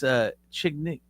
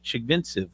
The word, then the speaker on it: Chigvintsev: their belt, and it's Chignik. Damn man, that's not how you say his name. Artem Eastern European. Yeah, is what his name is. Chigvintsev or something.